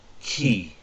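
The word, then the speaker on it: 木: got next is tree or wood which is pronounced key okay and that is um also moku so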